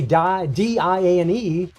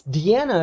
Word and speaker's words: Diane: because, you know, in English, whenever we see D-I-A-N-E, it's Diane, or maybe Diana, although usually there's a A at the end of it. But it's Deanna is actually how they were pronouncing, so that's